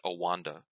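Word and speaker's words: OANDA: and a but then they started pronouncing it Oh Wanda so for whatever goofy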